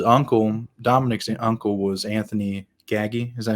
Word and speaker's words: Gaggi: Mayo's crew his uncle Dominic's uncle was Anthony gaggy is that how you say it gag G